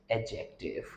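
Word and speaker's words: adjective: कभी भी अगर ए और जे अल्फाबेट के बीच में आप लोगों को डी नजर आता है तो हम उसको प्रोनाउंस नहीं करते।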